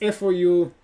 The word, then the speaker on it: Fouquet: The next day after the party, it's F-O-U-Q-U-E-T.